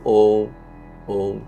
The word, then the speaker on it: ওম: বাট আগে deep breadth নিতে হবে, ডিপ ব্রেথ নিয়ে ওমটাকে আমি প্রোনাউন্সিয়েশন করতে হবে। সে এক্স্যাক্টলি যখন আমি নাভিতে জোর পাচ্ছি সেখানে ছেড়ে দাও। এবার আমি ওম ওম, কিছুই হচ্ছে।